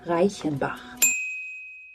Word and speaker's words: Reichenbach: A Reichenbach hero. Actually, it's pronounced Reichenbach.